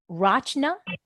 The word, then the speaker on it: Rachna: on the show um is the proper pronunciation of your name Rachna yeah you got it okay that's not deep do you prefer Rasta or dr.